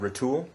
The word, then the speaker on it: Retul: guys are with a revolutionary fit system called row tool that's right did I pronounce that right yep you guys are at